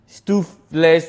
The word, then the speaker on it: stoofvlees: It's Stoofvlees, not Stoofvlees.